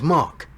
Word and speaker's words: Mark: please two my name's Mark sorry Mike you say no Mark m-a-r-k now I see you don't pronounce the r no not in my